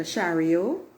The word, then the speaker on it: chariot: major kind of card the shario as I call it that's the French pronunciation and it's a card